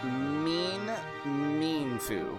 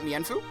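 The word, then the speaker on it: Mienfoo: I listened to people discuss official pronunciations from a scholastic guide and it says it said like meanfu meanfu not mefu meanfu.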